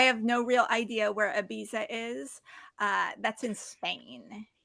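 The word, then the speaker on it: Ibiza: Are you Are you pronouncing the Z as a th Yeah. Okay. Yeah. IA.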